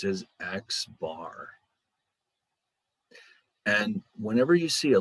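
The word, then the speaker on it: x̄: the little bar on top of it is pronounced as x bar and whenever you see a little bar like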